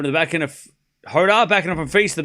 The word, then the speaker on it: Jodar: You pronounced Hoda correctly.